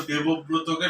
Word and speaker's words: দেবব্রত: আমি তো দেবব্রতকে সবকিছু দেব। আমি দেবব্রতকে সবকিছু দেব না। দেব না কি? দেবব্রত, দেবব্রত পরিষ্কার করে উচ্চারণ করতে হয়।